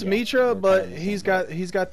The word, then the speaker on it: Mitra: say his name e-train interest Mitchell well it's Mitra but he's got he's got this tool you